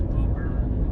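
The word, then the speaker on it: Woburn: that sort of stuff stoneham melrose woodburn so in case you're not from around here now you know how to pronounce those names there's always seems to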